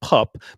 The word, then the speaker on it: pap: Oh, pup. Okay. So, it's pronounced pup, but it it's spelled like pap, but it's pronounced pup, but it's neither here nor there.